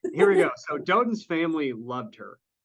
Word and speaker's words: Dotun: So Dotun's family loved her. Like, can I just tell you his name's Dotun? Dotun, thank you. Yeah. No, I appreciate that. I am a horrible mispronouncer of name.